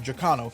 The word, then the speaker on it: Giacchino: I think that's actually how you pronounce his name, Giacchino.